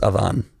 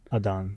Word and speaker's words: Adan: It's Adan. That's a cool name. Adan. Adan. Yeah, so Adan. it's spelled ADAN. Adan. Yeah, it's my dad's name, and it's pronounced Adan.